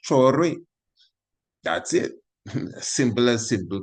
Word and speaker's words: Traoré: That's the same way the name is pronounced, Traoré.